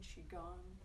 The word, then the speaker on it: Qigong: If anybody's not familiar, who might be lurking, Qigong, spelled Q-I, but pronounced like Chi, C-H-I, Chi.